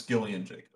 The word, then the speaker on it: Gillian Jacobs: It's Gillian Jacobs. Okay. Apparently. So, I looked up the phonetic pronunciation.